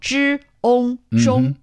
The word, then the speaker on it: 中: Yet when put together, it's pronounced ong. Ong. Ong. So 知 ong 中.